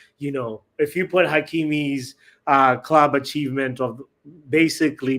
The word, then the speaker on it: Hakimi: I think Ashra is how you say his first name, but Hakeim is definitely his last name because he was named